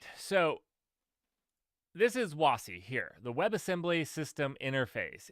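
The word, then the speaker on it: WASI: brought up uh wash I call it wassi but I don't know how other people pronounce it and uh yeah I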